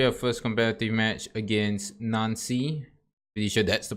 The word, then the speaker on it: Nancy: so finally you install first competitive match against none see yeah this is gonna be a first competitive match against Nancy you should that's the pronunciation apparently the playing